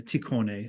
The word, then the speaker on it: Tikhon: This is Tikhon or Tikhone, sometimes it's pronounced.